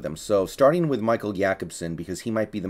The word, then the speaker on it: Jakobsen: So Jakobsen, and I'm using the pronunciation that I believe is appropriate if he is indeed Swedish with that name, so I think it's Jakobsen, is trying out as a tight end, so it would seem.